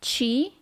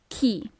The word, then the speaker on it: chi: who he pay attention it's not Chi it's key okay when quando quando